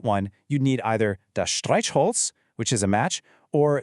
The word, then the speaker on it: Streichholz: It's a soft sound you make at the front of your mouth, almost like the H in the English word huge. Listen again. Streichholz.